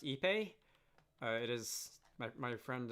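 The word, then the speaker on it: Ipê: looks quite nice um i take it to be pronounced ipe uh it is my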